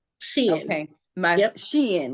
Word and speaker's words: Shein: It is Shein. Shein. Okay. My Yep. Shein, like she's Uh-huh. in. Yep. Shein. Like she's in style.